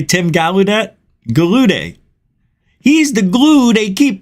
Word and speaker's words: Gallaudet: Gallaudet.